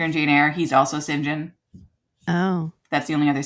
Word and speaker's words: St John: St period j o h n but you pronounce it singen anyway so that's him okay um then there's